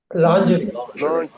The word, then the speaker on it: lingerie: லாஞ்சரி. Lingerie. Lingerie. இது லாஞ்சரின்னு Americans கொஞ்சம் இழுக்கிறாங்க. Lingerie.